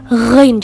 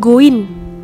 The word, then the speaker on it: ghain: Di situ ada huruf ghain. Ghain, coba berlatih. Ghain, bukan goin, tapi ghain.